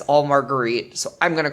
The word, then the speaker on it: Marguerite: our protagonist of sorts marguerite perrin who was introduced as margaret perrin and you can tell that it is an attempt to anglicanize her name and make it easily pronounceable i'm gonna refer to